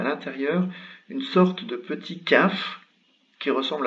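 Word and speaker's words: كاف: Le kaf, c'est cette lettre-ci, se prononce très simple, se prononce comme un K.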